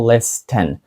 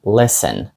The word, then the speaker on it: listen: ніяк не вимовляється невідомо в слові Listen тобто слухати глухою є літера tті ми не кажемо Listen Ми кажемо isten Listen далі В нас є